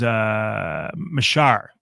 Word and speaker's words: Mashar: Mashal? I don't want to say it wrong. It is Mashar.